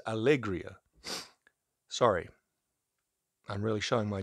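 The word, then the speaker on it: Alegría: This is from Algeria. Is that how you say it? Yeah, Allegria? No, that's Algeria would be Alge. This is Allegria.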